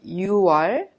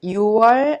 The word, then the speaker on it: 6월: Please remember 6월 and 10월 are differently pronounced unlike the other names of the months.